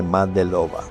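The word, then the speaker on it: მადლობა: En georgiano se dice Madelova. Madelova es gracias.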